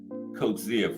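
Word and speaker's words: Coetzee: So, let's get to the uh Coach Zia fight. And that's how you pronounce that cuz M gas told me that.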